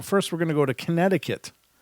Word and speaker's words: Connecticut: we're gonna go to Connecticut or connect ticket another silent letter and these in these